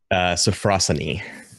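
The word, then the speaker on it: sophrosyne: John do you know this is pronounced safrussani thank you and safrussani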